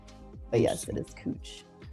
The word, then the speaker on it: Couch: If anyone is from Portland knows, uh, there's a street that looks like it's spelled like couch, but it's actually pronounced cooch.